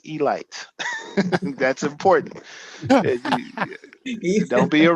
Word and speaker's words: Elite: the Baltimore Elite Giants spelled Elite but it's pronounced Elite that's important don't be a rookie pronounce it Elite okay okay uh so um what's notable about